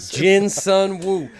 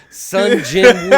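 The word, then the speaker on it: Sung Jin-woo: said it wrong and he said it's the name and I said it Jin Sun woo Sun Jin woo all right welcome back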